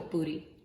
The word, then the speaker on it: Poori: Poori is spelled P-O-O-R-I or P-U-R-I.